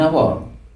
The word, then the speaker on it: hour: vowel sound example an hour here and our h is silent it is pronounced as our mp3 m m even